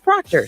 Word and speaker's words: Proctor: It's Proctor, spelled like doctor.